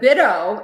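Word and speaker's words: BITO: Bido or Bido, or how do you say it? Bido? Bido. I think everybody says Bido. That's what I say. Okay, Bido it is.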